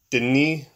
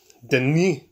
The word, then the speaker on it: Denis: But in French Canadian, I guess the S is silent. So it's Denis Villeneuve.